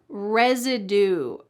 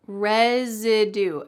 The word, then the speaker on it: residue: Residue. Residue. Note that the S here is pronounced like a Z.